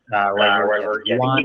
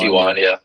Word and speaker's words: yuan: Yuan, I believe it's pronounced. Yeah, I think it's yuan.